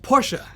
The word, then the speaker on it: Porsche: And yes, it's pronounced Porsche.